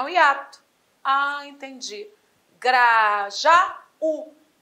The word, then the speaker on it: Grajaú: pode estar no já Grajaú a tônica tem de estar em Grajaú lá no u é o nome do lugar se a tônica está